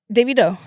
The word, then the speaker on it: Davido: Davido.